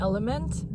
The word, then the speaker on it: LMNT: They're from the brand Element, but you spell it like LMNT, and they're yummy and they have a lot of electrolytes, but I sort of sidetracked.